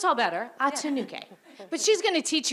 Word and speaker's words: Atinuke: But I think she says Atinuke. I think that's how I pronounce it.